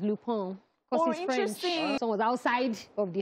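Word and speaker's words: Lupin: series it's spelled l-u-p-i-n I thought it was Luke Bean but apparently it's loophone someone was outside of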